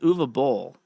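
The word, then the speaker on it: Uwe Boll: In a recent interview, Bull deni I guess he's German because his name is Uva Bull and pronouncing the W. It has to be like Dutch or German or some right?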